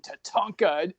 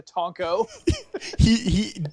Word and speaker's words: Tatanka: is our Native American Tatanka and the host goes good to meet you to Tonko he pronounced his name wrong the entire show so I was wondering